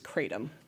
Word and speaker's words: kratom: It can be pronounced a couple different ways. The one I've used most is kratom.